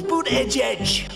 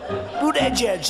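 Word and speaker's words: Buttigieg: debate pocahontas sleepy joe boot edge edge boot edge edge i said think of it as boot and then edge edge because nobody can pronounce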